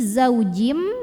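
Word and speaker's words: زوجٍ: Zau zaujim lalu berikutnya ada idgham bhunah karena ada tanwin kasrah yang bertemu dengan huruf mim maka tanwin kasrahnya masuk lebur ke mim disertai bunyi dengung jadi ini zaujim masuk ke mim dan bunyi m-nya nya tahan zaujim maka Ka ada Mad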